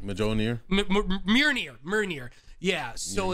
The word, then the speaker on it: Mjolnir: hammer that is his universe's I can never pronounce the name. Mjolnir? Mjolnir.